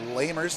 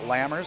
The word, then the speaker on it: Lamers: It's Lamers, not Lammers, so I apologize for that.